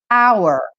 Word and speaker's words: hour: It's pronounced that we could put is going to be where we have a silent H is going to be hour, like for time.